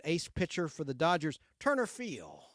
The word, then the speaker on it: Turner Field: pitcher for the Dodgers Turner Field he never would pronounced the D You' say Turner Field it was a Turner Field the Braves don't play